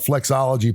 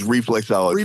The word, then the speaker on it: reflexology: Am I saying it right? Flexology, right? Well, for the fee, it's reflexology. Reflexology. Okay, reflexology. He wants to know what's